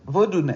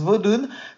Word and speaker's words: vodoun: langue du Bénin voilà le mot vaudou ou vudon comment il le prononce d'ailleurs vodoun il le prononce vodoun peut se traduire ainsi